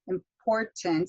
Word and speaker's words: important: with this word important important so you've got that stress on that second syllable and they have to